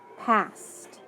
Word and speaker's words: passed: we need to code it's got that ed ending so go ahead and mark that off it's got an a in front of an s so the a is short and i need to cross off one of the s so p ass passed past very good and on our